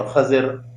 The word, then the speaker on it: خضر: موسیٰ علیہ السلام اور خضر علیہ السلام۔ اور موسیٰ علیہ السلام کے ساتھ ہمیں یہ لفظ خضر کے تلفظ کو درست رکھنا چاہیے، خا کا زبر اور ذات کا زیر، خضر۔ ہمارے ہاں خضر کا